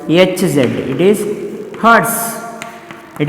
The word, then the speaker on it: hertz: It is not hertz. Hurting, it is different. Hurting. I got hurted by you, like that you can say. Correct? No. But it is not hurting. It is hertz. How to pronounce? Hertz. Hz.